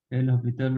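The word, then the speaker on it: L'Hôpital: Okay, L'Hopital rule मतलब h आपका silent हो जाता है, that's why it is L'Hopital rule होता है।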